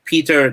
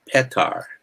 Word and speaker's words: Petar: start searching for him peter dunnoff is actually called but they call it petar because that's the bulgarian way of doing yeah dunoff